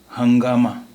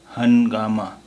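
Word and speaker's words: ہنگامہ: और अगर ये नून गुन्ना नहीं होता तो इसका उच्चारण या इसका तलफ़ुज़ होता हनगामा। हनगामा होता है इसका तलफ़ुज़, लेकिन ये है हंगामा क्योंकि ये नून गुन्ना है।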